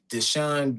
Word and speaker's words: DeShawn: Deshawn is spelled d e s h a w n.